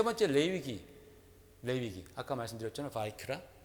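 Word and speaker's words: ויקרא: 바이크라. 비아그라라고 읽으면 안 돼요. 여러분. 바이크라.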